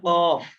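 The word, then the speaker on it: كاف: স্বাভাবিক ফা আচ্ছা ফ থেকে আপনি ফা যাইবেন উচ্চারণ করি ফা ফা আকার ফা আচ্ছা ফা ফা তারপরে কফ কফ কফ কফ একটু কফ মানে জোর হলে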